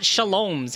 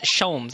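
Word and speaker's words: Holmes: if i could brian so it's not shalom's it's shomes i've been saying his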